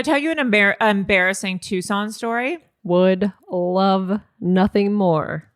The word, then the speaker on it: Tucson: God can I tell you an em embarrassing Tucson story would love nothing more I had never heard it pronounced out loud before for some reason tux yeah I had only seen the word and